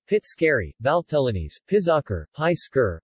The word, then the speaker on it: Pizzoccheri: pizzo carry Italian pronunciation Fitz carry Val felonies pizzica pice cur are a type